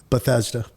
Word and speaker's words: Bethesda: help them tremendously so when you were at Bethesda am I saying that right like that's such a weird word Bethesda all right I did say it right all